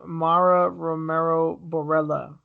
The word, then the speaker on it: Mara Romero Borella: predict yeah next up Montana Dolorosa is fighting Mara Romero Borella I actually said it right this time yes